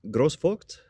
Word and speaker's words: Groß-Vogt: Yes, I think it's Katharina Groß-Vogt. Groß-Vogt. Okay, great. Thank you. Thank you. That really, I didn't want to butcher the name. Yeah, it's the German double S, which looks like a B.